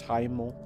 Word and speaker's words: Hiemal: It's Hymal. It's spelled Hiemal.